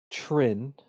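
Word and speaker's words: Trynn: your full name uh my name is trin is my last name if you must know how do you spell that uh so k a a l i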